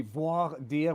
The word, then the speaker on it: voir dire: I think it's supposed to be voir dire, which is voir, say, which is what you're doing basically to the evidence. But question for not voir dire.